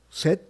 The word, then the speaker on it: Seth: bueno en redes sociales yo estoy como set mi nombre se escribe s e t h set